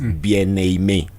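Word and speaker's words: Bien Aimé: But you see now when when when that name Bien comes to another name Aime, now you must connect the last consonant to the next consonant. So that's why his is not Bien Aime, it's Bien Aime.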